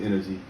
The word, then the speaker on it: NNerg: nnerg that's the energy that's pronounced energy and uh generally i'm